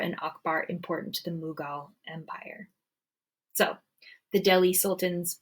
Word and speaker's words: Mughal: India and made the Mongol Empire but also pronounced mugal Mongol mugal same group of people just a new pronunciation